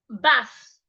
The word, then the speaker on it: bath: We also have bath, bath, bath. The TH in that word, you need to put your tongue outside.